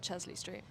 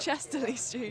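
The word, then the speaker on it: Chester-le-Street: to pronounce that Max it's not Chesley Street that's how the people from Chesley Street say it chesterly Street yeah they call it Chesley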